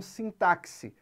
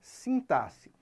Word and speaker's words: sintaxe: correta é sint não sintaxe tá não tem som de KS aqui a pronúncia correta é sintasse e o que é